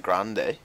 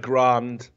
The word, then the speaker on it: Grande: I know Ariana Grande. Yeah. She's Ariana Grande to me. I'm not. She hasn't got an accent over the E. Ariana so she, Grande. The E is silent.